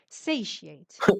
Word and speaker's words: satiate: Satiate. The pronunciation is Satiate. satiate.